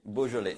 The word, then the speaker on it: Beaujolais: It's beau, like beautiful, jolé. Beaujolais, basically.